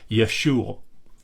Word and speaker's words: Yeshua: century CE and so it probably was pronounced something more like Yeshua where you're constricting the throat to to end the ooh vowel rather than adding that